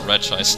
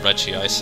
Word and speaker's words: Regice: Also, it's pronounced Regice, not Regice. I thought it was Regice, but yeah, it's Regice, from what I can tell.